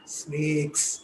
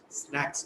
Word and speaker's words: snacks: Sharma, sweets and snakes. It is actually what? The pronunciation should be what? Snacks.